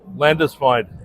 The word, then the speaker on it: Landesfeind: Today's first guest, Landisine, regional director, Central California Coastal Conservation Association of California. All right. How do you pronounce that? Landisfine. Landisfine.